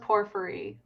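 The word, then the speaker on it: porphyry: It is pronounced pfery.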